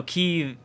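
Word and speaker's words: Kyiv: It's not Kiev. I'm pretty sure it's Kiev. No, Kiev. It's two goddamn syllables.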